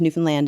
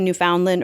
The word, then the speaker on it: Newfoundland: say it though well newfoundlanders pronounce it to rhyme with understand Newfoundland understand but I think most people say Newfoundland or Newfoundland Newfoundland so